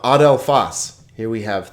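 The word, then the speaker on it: ἀδελφός: How about adelphos?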